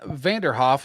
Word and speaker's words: Vanderhoef: All right, we have Vanderhoef. Did I pronounce that right? Am I getting that right? That's right, yeah.